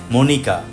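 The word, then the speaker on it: Monica: নামের প্রথম অংশ মনিকা, এখানে সি এর উচ্চারণ ক।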